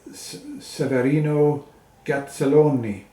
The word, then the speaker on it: Severino Gazzelloni: And uh on flute is uh Severino Gazzelloni. So, that pronunciation is correct.